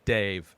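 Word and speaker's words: Dev: part two is is Dave and it's d-e-v pronounced by everybody in this movie Dave doesn't sound like this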